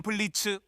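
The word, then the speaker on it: Blitzø: 내 이름은 블리츠, 오는 묵음이고 오늘 너희 암살자가 될게.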